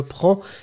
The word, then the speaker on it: prends: Remember that when you conjugate prendre for the first person, je prends, it goes with DS in the end. So don't forget the S, even if we don't pronounce it, you should definitely write it.